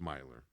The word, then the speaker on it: Mailer: It's spelled Mailer, but it's Myler.